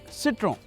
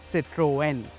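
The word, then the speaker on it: Citroën: pronunciation of words so first we're going to figure out how to pronounce the brand we're talking about citron or is it citrine or is it citroen well from what i heard at the presentation it's citroen so let's just stick with that now that we have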